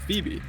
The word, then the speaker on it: Phoebe: And that's what I could see happening with Phoebe. Because she's got 2 syllables in her name. A Fee and a B.